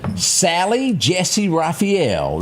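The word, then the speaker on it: Sally Jessy Raphael: Sally Jessie Raphael.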